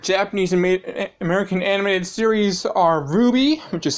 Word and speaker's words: RWBY: kakarot my favorite japanese american animated series are ruby which is spelled rwby created by monty um request guide